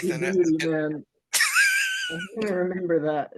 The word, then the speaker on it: Djibouti: So the Chinese have like this pretty big base in, God, I'm going to mispronounce it. Djibouti? Oh, Djibouti.